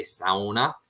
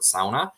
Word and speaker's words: sauna: I get a lot of flack on the channel for how I say sauna, because I pronounce it the original the Finnish pronunciation of the word sauna versus sauna, which is what the majority of folks pronounce it.